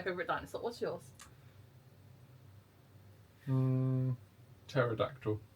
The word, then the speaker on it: pterodactyl: Um Pterodactyl. Pterodactyl. Cuz the P is silent.